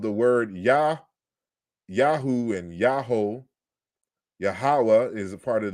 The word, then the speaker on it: Yahweh: So Thomas Romer again, on the other hand, it does seem clear the original pronunciation of Yahweh was Yahoo, Yahoo.